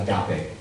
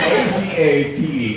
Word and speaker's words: agape: Now there's a fourth kind of love, and it's called agape. A-J-E-A. 12, 9, 30, A-G-A-P-E, agape, A-G-A-P-E, agape, which is self-sacrificial love, you might say it like that, or self-emptying love.